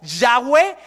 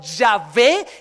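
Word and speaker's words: Yahweh: sea ye H que la pronunciación que tenemos se perdió en la historia no se sabe porque era impronunciable el nombre los hebreos no tenían vocales cuando escribían Imagínate Entonces no se sabe cómo se pronunciaba pero lo que llegamos a saber es que el nombre era algo así como yahwe o yahvé que tras literado español suena Jehová ese nombre de esas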